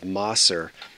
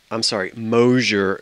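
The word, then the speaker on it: Moser: So if you've been watching me this week, you've already seen that wonderful piece of Mosser. Mosher glass, not Mosser.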